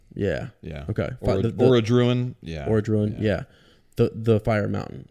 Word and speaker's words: Orodruin: Orodruin, yeah.